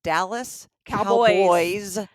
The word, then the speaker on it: Dallas Cowboys: Okay, you're still not pronouncing it right. There's an S. Dallas Cowboys cheerleader. There's more than one cowboy.